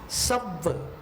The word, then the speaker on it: सव्व: सव्व, सव्व में क्या हो रहा है? स अपने आप में ह्रस्व है, लेकिन व डबल होने के कारण अपन सव्व 2 मात्रा में उच्चारण करना है।